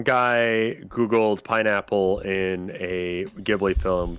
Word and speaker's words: Ghibli: Why do you pronounce it like that? Ghibli. Why are you pronouncing it like that? Ghibli, because that's how it's pronounced.